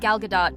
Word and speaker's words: Gal Gadot: Welcome, Rachel, Zegler and Gal Gadot.